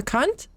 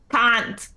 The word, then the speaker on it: Kant: A cunt? Can't. She tries to like pronounce it a little bit easier. Can't. K-A-N-T. Can't.